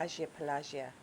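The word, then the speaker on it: Agia Pelagia: So, you drove me from the Agio Pelagio, is that how you pronounce it? Agio Pelagio. Agio Pelagio.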